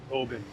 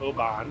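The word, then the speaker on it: Oban: We headed towards Oben. Um, I've heard of this. Yes, it is. Obin, not oan.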